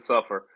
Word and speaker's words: Suffolk: Well, that's actually how they pronounce it. They actually pronounce it suffer.